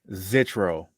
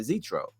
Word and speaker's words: Zitro: I had a bar where I pronounced it Zitro. And Yeah, I forgot I was like TRD and Zitro, like some cheat codes. right. I was like, yo, did anybody ever rhyme Zitro with cheat codes before?